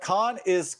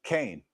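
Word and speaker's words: כן: That Khan is the Lashawan Kodash pronunciation for Kaf Nun, which means yes. I pronounce it Cain. You hear me say Cain.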